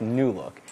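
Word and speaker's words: Loupedeck: the name of it it's spelled a little bit weird but it's pronounced new look and it essentially consists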